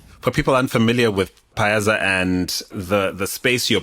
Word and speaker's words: Payaza: And the name is pay as Africa. Oh, did I say that wrong? No, no, it's Paza Africa. You didn't say it wrong. So, I say Paza. Yeah. Paza.